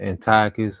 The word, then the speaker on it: Antiochus: It says, after the death of Seleucus, when Antiochus called. Yeah. Go ahead, bro. No, I said people pronounce it either Antiochus or Antiochus.